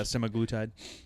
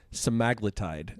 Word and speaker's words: semaglutide: the glp1 Inhibitors yeah semaglutide and actually the apparently we've all been pronouncing it wrong it's stide and that came from